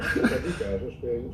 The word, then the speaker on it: Sadiqa: Sadiqa, zo spreek je het uit.